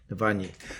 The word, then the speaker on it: Navalny: How do you pronounce his name? The opposition leader, Navalny. Navalny.